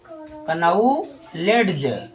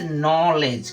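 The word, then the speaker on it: knowledge: कनऊ लेडज्ज ठीक है अगर आप कनऊ लेडज्ज पढ़ते हैं ठीक है तो आपका ये प्रोनाउंसिएशन बिल्कुल ही गलत होगा ठीक है अब इसका सही क्या होगा वो जानो वो होगा फ्रेंड्स नॉलेज क्या होगा फ्रेंड्स नॉलेज ठीक है अब नॉलेज हो गया है यह आपका राइट यह आपका राइट प्रोनन्सिएशन है यहां पर के यहां पर दो लेटर साइलेंट हो रहे हैं के और डी।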